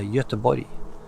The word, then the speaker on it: Göteborg: Like in Swedish today, you don't say Gothenburg, it's a Göteborg.